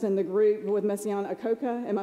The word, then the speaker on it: Akoka: So there was also a story that meant something to me about the clarinetist in the group with Messiaen Akoka, am I saying it correctly?